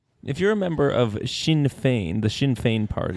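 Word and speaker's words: Sinn: spelling It's s i n n I know Shin Shin would in Chinese clearly have been spelled with the English H all right question number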